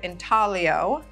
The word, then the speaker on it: intaglio: So the Italian word intaglio, I-N-T-A-G-L-I-O, pronounced intaglio, means to incise.